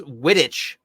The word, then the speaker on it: Wittich: that's what I'm saying that's not a witch that's wittich like it's the last name quidditch Quidditch oh what's what's that mean